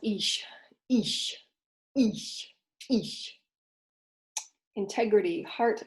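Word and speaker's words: Ix: Ish. It's actually pronounced Ish.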